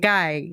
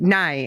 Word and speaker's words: nai: Or you'll listen for, and ngai is for all negative. So, no, wait, nai is actually how they say it.